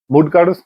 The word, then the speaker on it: mudgar: I recently got a couple of like the Mudgar is how you say it, I believe, or club bells from TacFit.